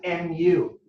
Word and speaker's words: nu: it's it's the sign for velocity and they pronounce it nu mu is this type of a symbol all